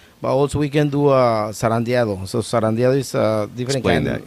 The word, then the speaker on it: zarandeado: Zarandeado. Zarandeado.